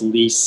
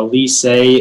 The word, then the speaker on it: lycée: Yeah, so the only pronunciation is lise. It's a noun and it comes from French. A lycée is a French public secondary school that prepares students for university.